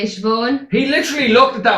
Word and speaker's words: Siobhan: 'Cause that looks like Sobihan. And for you to actually say Siobhan, He literally looked at that one.